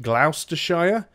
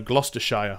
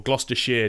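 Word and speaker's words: Gloucestershire: know a lot of Americans that I know pronounce it Glouster Shire but in the UK its gloss Gloucester so Gloucester Shia or Gloucester Shearer depending on the part of the UK but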